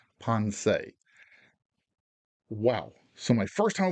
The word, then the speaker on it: Ponce: politely but emphatically corrected the ship's name is ponsei not pons not punts ponsei wow so my first